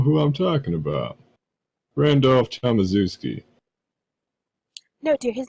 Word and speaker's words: Tomaszewski: Randolph Tomaszewski. No, dear, his name is Tomakatuski. Tomatsky? Tam- what was his name? Yeah, it was Tomaszewski. Yeah, what's up, Bazuski?